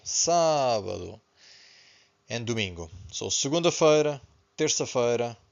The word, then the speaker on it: sábado: Pay attention to this accent, so we stress the first syllable, sábado, and domingo.